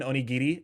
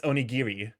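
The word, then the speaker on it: おにぎり: can I get an onii and it's like no it's not onii it's onigiri you're supposed to actually pronounce the r and I [ __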